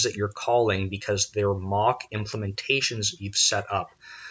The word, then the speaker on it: Moq: unit testing framework and mock which allows you to it's spelled moq but it's - MOC MOC k out implementations of interfaces